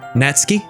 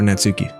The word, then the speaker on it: Natsuki: Also, I was told that her name is pronounced Natsuki, but I'm gonna call her Natsuki, because I'm dumb and white.